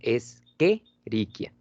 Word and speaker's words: Escherichia: Ahora, ojo, por favor, se pronuncia Escherichia. ¿Sí? Viene del latín la mayoría de los nombres. Entonces, el CH siempre lo pronunciamos como que o como K, ¿sale?